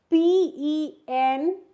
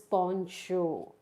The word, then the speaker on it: penchant: Next word is PENCHANT. We don't pronounce it as penchant, that is wrong. We pronounce it as poncho.